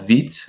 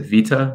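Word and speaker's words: Vite: i experimented with recently was this tool called veet or you might pronounce it vita but it's feet um and it uses a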